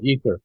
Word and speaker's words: aether: Yeah, ether. Ether. It's spelled in two different ways, E-T-H-E-R or A-E-T-H-E-R.